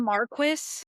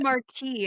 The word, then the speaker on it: Marquis: They call themselves the Marquis. Marquis. I thought it was Marquee.